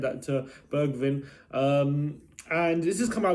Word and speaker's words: Bergwijn: And it looks like we have some news to bring you today as Steven Bergwijn, is that how you pronounce his name? Bergwijn, Dutch international from PSV.